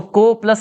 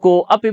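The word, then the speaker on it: कोऽपि: अच्छा, कुछ लोग को अपि बोल देते हैं, को अपि नहीं होगा। को अपि में तो आ का उच्चारण हो रहा है, आ बदल गया है ओ में, तो ओ को थोड़ा खींच कर बोलना है, कोपि, ठीक है।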